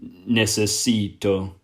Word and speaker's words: necesito: a blood and you push down on the second last syllable and replace the ar at the end with an o that would become necesito i need necesito and